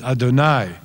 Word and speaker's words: Adonai: And the Hebrew, of course, as most of you know, is odd because it's written Yud He Vav He, but Jews always pronounce it as Adonai, as though it were